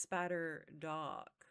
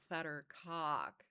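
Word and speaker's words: Spadderdock: It's Spatter Dock, not Spatter Cock.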